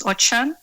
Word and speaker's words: Ochan: I was just saying my surname is Ochan, so it's pronounced with an H.